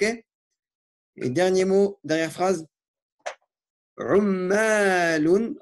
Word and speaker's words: عمالون: Ummalun. Attention, deux lettres qui se doublent ici. C'est un shadda.